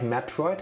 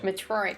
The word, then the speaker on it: Metroid: Metroid. Or Metroid. Yeah, depends on what comes out of my mouth first. Yeah, usually it rhymes with Detroit.